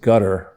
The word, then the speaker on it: Qatar: as well is is they pronounce it I think you know in the Middle East gutter but it's called qadar and I was one